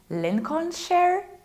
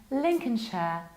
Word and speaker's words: Lincolnshire: Perhaps Lincoln, Lincoln, Lincolnshire? No, it's Lincoln, Lincoln. This is can. We reduce this ending. Lincoln, Lincolnshire, Lincolnshire.